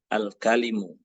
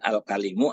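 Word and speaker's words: الكلم: yang ketiga adalah salisan al-kalimu. Nah, ingat bacanya jangan ini al-kalimu. Ketika ada tak marbuthah di belakang, maka ini dibaca kalimatun. Ya. Tapi kalau nggak ada tidak ada tak marbuthah, baca al-kalim.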